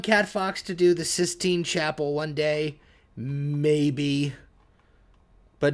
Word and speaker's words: Sistine Chapel: Can I request the 16th chapel, but with Chucky Chicken characters? No, because it's not the 16th chapel, it's the Sistine Chapel.